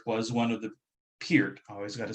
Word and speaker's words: Peart: But in my opinion, Neil Peart was one of the Peart, I always got to say it right, best